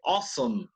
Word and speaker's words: awesome: Acabo de decir, ni lo pensé, pero dije awesome. How do you spell awesome? You spell it awesome, ¿no es cierto? A-W. Pero ¿cómo suena esa A-W? O.